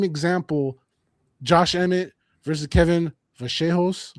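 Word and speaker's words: Vallejos: Josh Emtt versus Kevin Vaseos. I believe that's how uh Argentinians pronounce it. I was calling Vos.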